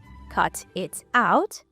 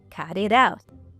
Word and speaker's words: cut it out: And yeah, the same thing happens in the phrase cut it out. Not cut it out. Cut it out.